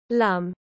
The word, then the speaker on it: Lum: well however she is still called lum pronounced with a long u for spanish linguistic customs in the spanish anime